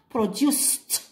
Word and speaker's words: produced: نردها هاد produced attention regardez bien la prononciation produced اوكي ماشي produced produced اوكي واش عندي ثاني عندي